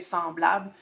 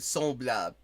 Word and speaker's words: semblable: différent, mais sinon, la langue, le vocabulaire est semblable. C'est vraiment la prononciation où est-ce qu'on reste avec des différences plus marquées un peu.